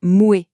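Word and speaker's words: Moët: D'ailleurs, on prononce bien Moué et Chandon, chaque nom est une étoile qui brille mais toutes font partie de la même constellation.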